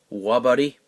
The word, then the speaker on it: Wabuddy: my name on there, it's pronounced Wabuddy. I have a buddy of mine that every time I holler at him, I'll say, "Hey Glenn, what's up?" He says, "Wabuddy," So I kind of got that from him.